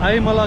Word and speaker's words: Aazhimala: So the Z is silent there. He said Ayamala.